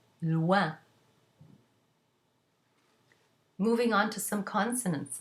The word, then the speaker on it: loin: If the OI is followed by an N, then you get a nasal, ouin, as in loin.